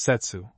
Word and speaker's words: setsu: There are two Chinese characters both pronounced setsu one signifying the node or joint of the bamboo and the other virtue fidelity constancy.